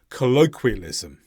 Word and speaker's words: colloquialism: Colloquialism. Colloquialism. What people often get wrong is the qu sound in the middle. Sometimes people miss out that w and go for colloquialism.